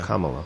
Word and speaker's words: Kamala: mate is uh you you pronounce the first two syllables of her name like comma like the punctuation mark so if you if